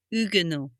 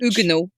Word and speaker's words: Huguenot: So, you wouldn't pronounce the H Huguenot.